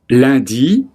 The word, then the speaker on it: lundi: Les jours de la semaine sont lundi, L-U-N-D-I, lundi.